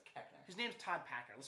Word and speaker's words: Koechner: Keckner. David Koechner, I don't know. Keckner. Is Keckner? I'm like 99% sure it's Keckner.